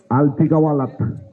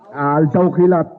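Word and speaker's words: Al-Tawkilat: Alti Kawalat. Good start, Pinag-isipan ko pa, 15. yung sasabihin ko. 12, Alti Kawalat. Ang hirap bigkasin. Ang hirap bigkasin. Altaw Kilat.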